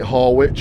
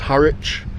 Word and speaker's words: Harwich: I pronounced it Har Witch and got corrected. It's Haritch.